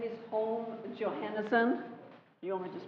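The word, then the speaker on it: Holm-Johannessen: do we have two more my name is home johanerson you want me to spell it yes h o l m hyphen Johannesen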